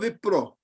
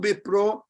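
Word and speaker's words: বিপ্র: So if a Pakka Bengali would say Kibo Vipro, and the V in Bengali becomes B.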